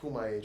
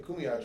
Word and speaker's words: Kumeyaay: Oh, I think that's how you say it. The Kumeyaay tribe. I said it wrong last time. Kumeyaay. The Kumeyaay tribe.